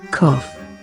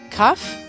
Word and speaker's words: cough: And here's how it should be pronounced. Cough. Cuff?